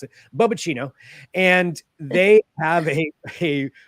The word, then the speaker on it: Boba: So it's a company called Boba. I'm pretty sure that's how you pronounce it. That's how I'm going to pronounce it. Boba. And they have a Boba Tea Robot that they